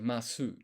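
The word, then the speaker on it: ます: sentence ends in m it's actually mas. So I think when you've when you just want to do s in katakana without the vowel sound after because when you have s in Japanese, you only really have so as options. There's no just s on its own. And so the s sound, it seems like that you quite often is silent.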